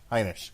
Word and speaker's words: Heinisch: How are you pronouncing it? Heineken? Heinisch.